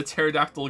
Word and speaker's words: pterodactyl: Why is it impossible to hear a pterodactyl going to the bathroom? Because the P is silent.